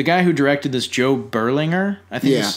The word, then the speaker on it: Berlinger: Which is weird because this is the guy who directed this, Joe Berlinger, I think is how you pronounce it.